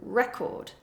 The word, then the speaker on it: record: example take this word if I stress the first syllable it is a noun for example record I'm going to play